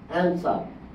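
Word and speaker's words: answer: হচ্ছে এমনি সাইলেন্ট থাকে যেমন অ্যানসার এখানে ডাবল ইউ সাইলেন্ট টোল্ড এখানে ডাবল ইউ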